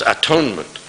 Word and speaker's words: atonement: what atonement means the the pronunciation is shifted by the by the conjunction of of the two syllables to the two words rather so it becomes atonement but actually it was